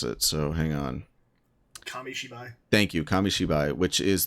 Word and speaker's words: Kamishibai: I gotta find the word because I always mispronounce it, so hang on. Kamishibai.